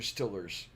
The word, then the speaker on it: Steelers: can't get enough of their Stillers the Steelers Steelers that's how they say it what the Steelers